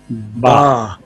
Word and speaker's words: ب: جی Ba, جی pronounced as ba, using inner part of both lips to touch each other.